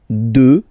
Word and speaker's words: deux: Deux, final X not pronounced, okay, deux.